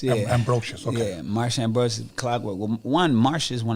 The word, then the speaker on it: Ambrosius: Now I feel goofy not being able to pronounce her name. It's okay. Marsha It's Ambrosius.